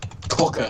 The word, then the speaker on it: quokka: Quokka. Quack. That's how you pronounce it.